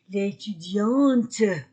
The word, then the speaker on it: étudiante: T l'étudiant masculin singulier l'étudiantes féminin singulier je prononce le T au féminin je prononce le t l'étudiant l'étudiante au pluriel